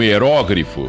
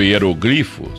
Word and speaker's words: hieróglifo: difícil deturpar você pega um hieróglifo ou hieroglifo tanto faz né Depende da da de de gosto aí na pronúncia ele tem um determinado